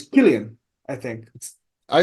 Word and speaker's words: Cillian: Actually, we're Uh, pronouncing his name wrong. It's Killian, I think.